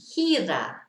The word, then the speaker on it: gira: So G-I, like the first word, is a he sound, hira.